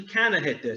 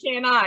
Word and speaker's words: CannaHitThis: So it's actually CannaHitThis. So like cannabis. Yeah, right. That's what, I'm just saying it wrong, like an idiot. I'm saying can I, and it's like no.